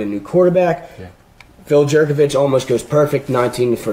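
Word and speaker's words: Jurkovec: But Pine Richland quarterback, Phil Jerkovich, I think I'm pronouncing that correctly.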